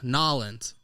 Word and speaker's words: New Orleans: and how was uh nollens uh new orleans was depressing that's how they say it down there man right am i